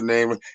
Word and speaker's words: Nam: If you wasn't properly introduced to the name, it's Nam. You know what I mean? I'm from Rhode Island. We pronounce everything wrong, bro.